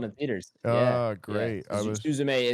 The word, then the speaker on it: Suzume: you walked away was Suzumi, which did you get to Suzume? I saw it in theaters. Oh, great. Yeah. Suzume is the better pronunciation, so I should probably be saying that.